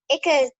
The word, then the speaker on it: Ichthyosaurus: This is How's this it is Ichthyosaurus, I think. Well, it's spelled ICKTHEUHSOAR. Oh, that's the pronunciation.